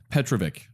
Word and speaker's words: Petrovic: totally forgot to ask pronounced Petrovic Petrovich Petrovich cool and we also have